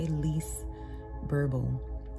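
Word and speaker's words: Lise Bourbeau: It's by Lise Burble. I probably mispronounced both of her names, first and last, but it's spelled L-I-S-E, last name B-O-U-R-B-E-A-U.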